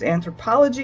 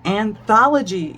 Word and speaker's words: Anthology: lovely rose color is anthropology Yarns and let me say it properly anthrop no Anthology yarn coat volume three old